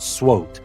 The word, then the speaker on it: SWOT: we will talk about the SWOT analysis or S SW analysis which is usually pronounced SWOT analysis now we will learn